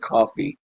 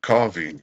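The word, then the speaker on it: Cawvey: say someone to someone it's pronounced like coffee yeah coffee yeah coffee uh but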